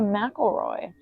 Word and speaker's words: McElroy: Oh, Jessica McElroy.